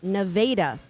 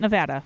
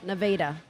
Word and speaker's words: Nevada: Missouri I lived in a town called nadaa not Nevada it is spelled Nevada but you say it Neda it's a thing in